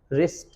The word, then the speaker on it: wrist: WRIST, इट्स रिस्ट। Clear? So remember one thing that कभी भी W के बाद आर आता है तो हम W वर्ड को प्रोनाउंस नहीं करते हैं, ये ध्यान रखना है।